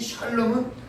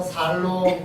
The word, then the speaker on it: 샬롬: 발음을 잘못해서 살롬 그러면 저는 욕이 되니까 여기까지 마시고 샤 해야 됩니다.